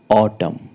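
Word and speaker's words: autumn: पे साइलेंट होता है तो कहते है एम के बाद आया एन साइलेंट रहता है जैसे ऑटम ऑटम लास्ट में एन है बट एम के बाद आ रहा है तो यहां प इसलिए एन जो है वो साइलेंट है और ऑटम का अर्थ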